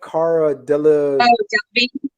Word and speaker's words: Cara Delevingne: Cara Delevingne.